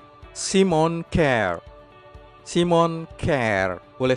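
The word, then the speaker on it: Kjær: tapi Simon sementara itu nama keduanya huruf j tidak dibaca jadi penyebutan yang benar adalah Simon care Simon care boleh 1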